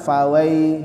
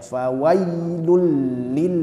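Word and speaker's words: فويل: ke ayat keempat faw faw ya huruf ya jangan fawai fawai fawai ya tidak tidak seperti itu faw ya di di di diucapkan huruf dan harakatnya dengan jelas Jangan diucapkan dengan jelas dan sesuai dengan dengan makhrajnya faw ya fawailil Musin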